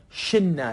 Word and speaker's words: شلنا: دوباره توی ما و شما هم باید حرف وسط حذف بشه، یعنی احنا شلنا، شلنا که به صورت حالا شننا تلفظ میشه، احنا شننا، ما برداشت، ما برداشتیم.